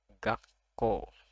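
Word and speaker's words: がっこう: Yang ini ko, jadi dibaca gakko. Ada ga, lalu ada su kecil, ko, u. Jadi dibacanya gakko. Gakko. Jadi double konsonannya.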